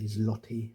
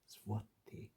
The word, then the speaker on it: złoty: and you're unaware that this L with a line through it is not a L at all, but it's a kind of a W, you might be inclined to say zloty as an English speaker,